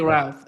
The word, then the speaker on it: Routh: In this case, this fellow Ryan Root, not quite sure how you pronounce his name. Wesley Routh. Yeah, Ruth.